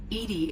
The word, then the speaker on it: EDI: are you named Edie Edie is the phonetic pronunciation of EDI that is an acronym for enhanced defense intelligence how are you getting along with Joker mr.